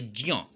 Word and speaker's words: ज्ञ: अगर शुद्ध उच्चारण करना चाहें तो ज हलंत जोड़ इय बराबर होता है ज्ञ।